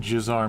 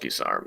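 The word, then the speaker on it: guisarme: for gizarm sorry tristan i said jizz arm because i was thinking like it was a french spelling gui i do believe that geese arm is a french word gotcha it's pronounced kisar though i know that that's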